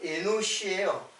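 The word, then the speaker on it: אֱנוֹשׁ: 근데 에노스는 이제 발음으로 보면 에노시예요. 이게 에노스라고 적었는데 사실은 발음으로 보면 에노시 이렇게 돼요.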